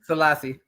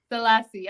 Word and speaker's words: Sellassie: I be getting names wrong how do you pronounce the last name salassi salassi okay I wanted to say that salasi okay it's all love don't worry about it